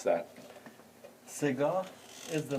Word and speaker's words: Segah: It's called SEGAH, or how do you pronounce that? SEGAH is the name of one of the dastgah in Persian classical music.